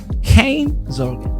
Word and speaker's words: geen zorgen: Geen Zorgen. Yes. Wow. Man. I'm from the south, so I have a soft G. So Okay. geen, but other Geen. people say geen Geen.